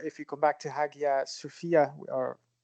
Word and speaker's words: Hagia Sophia: you come back to Hagia Sophia a year Sophia's some people pronounce it here there's a